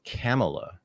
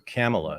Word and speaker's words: Kamala: it's actually she says she says camela so she has a little white girl inflection in it which is interesting so camela it's actually the very proper pronunciation no I don't I